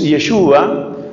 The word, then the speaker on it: Yeshua: Jesús el nombre de Jesús yeshua más o menos se pronuncia en arameo yo no sé arameo